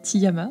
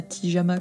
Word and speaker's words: Tiyama: aka Tiyama. Alors oui, ça se prononce bien Tiyama d'ailleurs, et pas Tijama comme un pyjama.